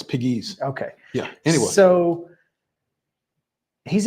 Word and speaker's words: Pegues: I'm glad you know that because I keep saying Pegway. No. Only because it rhymes with P. JP Peg, Yeah. No, it's Pegues.